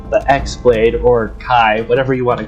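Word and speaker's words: χ-blade: one keyblade which we call the x-blade or kai whatever you want to call it but it's pronounced keyblade and it's supposed to be the main protector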